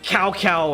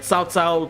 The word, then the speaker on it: Cao Cao: Okay, their pronunciation is shit. Right? Okay, we still have Cow Cow and Cow P in Dynasty Wars 4 and 5.